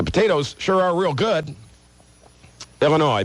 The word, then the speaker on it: Illinois: sure are real good Illinois please do not pronounce the s new state motos Indiana